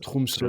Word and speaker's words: Tromsø: Et donc là, cette dernière phase de Oslo à je sais déjà plus comment ça se prononce. Tromsø, ouais. Tromsø, c'est ça?